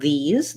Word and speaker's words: these: then we see here the letters s e um often say the z sound and in the word these they do say the